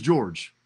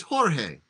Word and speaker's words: Jorge: dad his name is George but in Span in Sp span span the Spanglish in in in in Mexico right in Spanish it's Jorge Jorge not George right he's known in